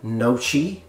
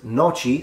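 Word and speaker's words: noci: I've heard people read this in like nochi. I think that's the way most people that don't know how to pronounce it read it, nochi, which is actually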